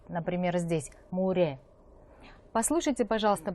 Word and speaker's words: 물에: гласной и читается уже как р, например, здесь, муре. Послушайте, пожалуйста, произношение и повторяйте.